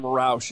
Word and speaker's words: Roush: Sam Roush is is the correct pronunciation, I believe.